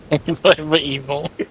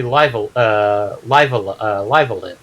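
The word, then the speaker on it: Live A Live: I actually encountered somebody that encountered the ROM and pronounced it Live Evil because that's how the logo looked to him, and like, no, it's supposed to be Live Alive.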